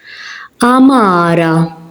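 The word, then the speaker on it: għamara: Amara. As you can hear, I'm not pronouncing the ein because it's in the beginning.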